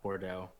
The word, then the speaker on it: Bordeaux: So yeah, it's the X, isn't it? Bordeaux, they don't.